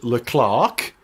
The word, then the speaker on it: Leclerc: closing stages, we had Charles Leclerc, or Charles Leclerc, which I think is a correct way of pronouncing it, showing his mettle for the first time.